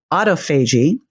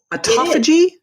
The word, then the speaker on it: autophagy: I thought it was autophagy, but I guess it's autophagy. No, it's both. It's like tomato, right?